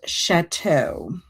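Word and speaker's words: château: And chateau. Chateau. And Zach said, yes, you're saying it correctly.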